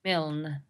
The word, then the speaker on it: Milne: Yeah, Milne.